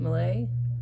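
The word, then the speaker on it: Millay: Malay, that's how you say her name.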